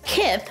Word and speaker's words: Kith: Well, I found a few, but I was late to the party for that new, rhymes with Sith, Kith Barbie.